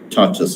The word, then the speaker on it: tortoise: This is not tortoise, this is tortoise, remember. So when I was in the school, I always pronounced this as a tortoise.